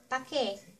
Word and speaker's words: paki: Paki Paki is the Tagalog version of please in English. And some pronounced the word paki (pa-ki) and there's some that pronounced the word pake (pa-ke) If you wanna say